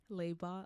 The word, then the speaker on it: Leibot: pronounce it for me laot like robot oh lebot okay so my guest